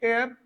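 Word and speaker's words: heir: अब ये अच्छा है, एयर, प्रोनाउंसिएशन क्या है इसकी, एयर, और इसकी हेयर मत कर देना, ये भी एयर ही है, एच ई आई आर,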